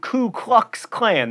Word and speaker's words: Ku Klux Klan: mauve not move and ku klux klan there's no l in that first word and now let us